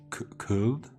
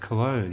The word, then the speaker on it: Köln: It's like Köln, if you say it properly in German. Oh yeah, it's just Cologne.